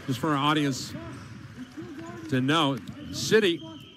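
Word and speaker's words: Sitti: I want to, just for our audience to know, City, the name is spelled S-I-T-T-I.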